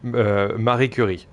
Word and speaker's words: Marie Curie: Pronounce her French, my man. That would be Marie Curie. Easy as that.